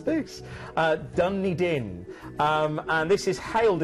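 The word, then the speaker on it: Dunedin: actually pronounced my producer she's going how' you pronounce this uh dunny din um and this is hailed as the Edinburgh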